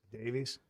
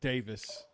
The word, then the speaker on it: Davies: Who's spelled D A V I E S. Davis. It's it's it's Davis. Like that. That's the That's the British spelling of Davis.